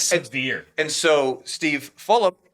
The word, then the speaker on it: Fulop: And so Steve Fulop, because I said his name wrong on the last podcast, I kept saying Falup as if it's like as if it's like a Fruit Loop or something.